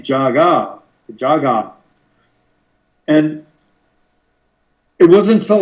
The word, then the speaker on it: Jaguar: because in the movie the characters are the songs they're clearly saying Jaga not the UK pronunciation Jaguar I believe this movie was dubbed in Hong Kong and uh that accounts for the Japanese I mean the uh British pronunciation of jaguar and I wonder if